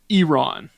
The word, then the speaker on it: Iran: We're not allowed to mispronounce it. It's Iran.